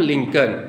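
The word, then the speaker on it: Lincoln: और ध्यान दीजिए अब्राहम लिंकन की स्पेलिंग जरा देखिए अब्राहम का तो ठीक है लिंकन का देखिए एल आई एन सी ओ एल एन वो जो एन के पहले एल है वो साइलेंट है वैसे शेक्सपियर की जो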